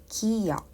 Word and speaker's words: 기역: So this is 그, which is called 기역.